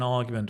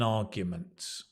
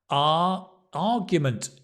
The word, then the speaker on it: argument: I had an argument with my neighbour. Okay. So to have an argument. Argument, if you see the pronunciation, it's an R. It's a long vowel. There's no R.